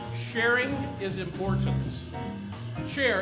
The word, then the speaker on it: Cher: 8 sharing is importance Cher as in share Force share eights Etc